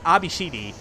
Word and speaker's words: ABCD: rogue AI units, called it's spelled out ABCD. Yeah, I noticed that. But it's pronounced Abishidi, obviously, because it's Japanese phonetics.